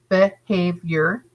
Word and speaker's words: behavior: behavior behave your that there's a little dash over the top of the h and to make you know that it's a long a sound it's saying it's name it's three syllables behavior okay and the stress is on the middle syllable because it's bolded behavior